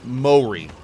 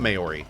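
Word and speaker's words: Māori: It's pronounced Mori, right? Not Maori.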